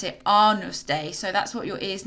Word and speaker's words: Agnus Dei: Now this is spelled Agnus Dei, but you pronounce it Agnus Dei.